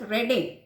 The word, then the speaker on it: Reading: Reading is a town in England which is pronounced as Reading.